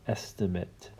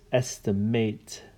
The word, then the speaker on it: estimate: So, interesting thing about this word, if it's a verb, it is estimate. If it's a noun, it's estimate. Estimate. Estimate. Estimate. Just a little bit of a different pronunciation.